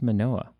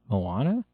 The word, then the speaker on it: Moana: What's Manoa? Moana. Moana. I'm sorry. I always mispronounce it.